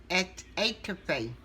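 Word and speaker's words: étouffée: Etouffee. That's the way they pronounce it.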